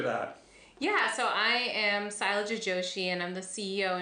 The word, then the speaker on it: Sailaja: Am I pronouncing it right? Sailaja. Sailaja. Yeah, Sailaja.